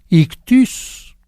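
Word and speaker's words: ἰχθύς: Pero bueno, pez en griego se dice ictus. Ictus se escribe ictis.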